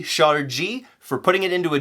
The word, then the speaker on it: ŝarĝi: a Jeep and so use that soft G shot or G for putting it into a Jeep and beep